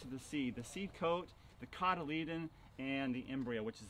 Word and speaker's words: cotyledon: The cotyledon, it's pronounced cotyledon, that's the middle part of the seed.